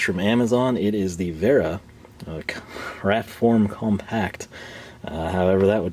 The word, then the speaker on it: Wera: bragging about them, they all seem to like Wera, or Wera, if you want to pronounce it as we would without knowing any better.